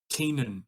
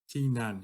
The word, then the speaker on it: Keenan: Keenan. Yeah, that's how I say. Yeah, that's how you say it. So key, lock, like a lock and key, and then nan. Keenan. That's Keenan.